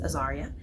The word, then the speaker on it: Azaria: her in the meeting that my name is Aaria and even though the editorial assistant was pronouncing my name correctly the entire time.